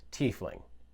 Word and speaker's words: tiefling: Christopher Perkins from D&D has also confirmed that the pronunciation of the word is tiefling.